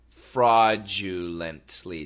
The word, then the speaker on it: fraudulently: long word okay so the first part f r a u d fraud fraud fraud it's an aw sound fraud fraud now u